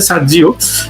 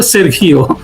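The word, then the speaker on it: Sergio: মানুষ করতে পারে না, এটা একটা স্প্যানিশ উচ্চারণ, আমি জানি না, ওরা আমেরিকাতে সার্জি বলতে পারে, সার্জিও, বাট এই নামটা হইলো আপনার ল্যাটিন। এই লোক নিশ্চিতভাবে ল্যাটিন পিতামাতার সন্তান, ল্যাটিন মানে স্প্যানিশ আর কি, ধরেন মেক্সিকান বা অন্য কোনো ওই কিউবান হতে পারে, ওই ওই ভাষায় এই উচ্চারণটা হলো সেরখিও।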